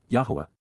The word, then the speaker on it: Yahowah: And she ignored and forgot me, Eth Eni Shakach, prophetically announces, Yahowah, the proper pronunciation of Yehovah our Eloah, God as directed in his Twrah, teaching regarding his Hayah existence in our Shalom WM, restoration.